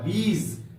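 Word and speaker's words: bees: ई को लेते हैं यहां पर बी डबल ई के बाद एस जोड़ते हैं बी का अर्थ होता है मधुमक्खी डब एस जोड़ देते हैं तो इस एस का उच्चारण ज के समान होगा यहां पर होगा बीज मधुमक्खियां प्यारे बच्चों ठीक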